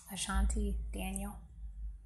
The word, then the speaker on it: Ashanti Daniel: Ashanti Daniel.